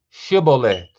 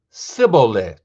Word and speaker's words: shibboleth: new under the sun they would tell him to say shibboleth if he was from ephraim he would say sybil because people from ephraim cannot pronounce the word correctly then they would take